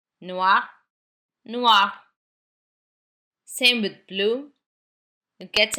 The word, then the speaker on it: noir: Noir it remains the same in pronunciation. Noir.